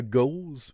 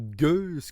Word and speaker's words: gueuse: Écoute, c'est une double gauze ou gueuse qu'on dit, là, houblonnée. Ouais. Dépendamment de comment on le prononce, ça, mais Ouais. les deux sont acceptés.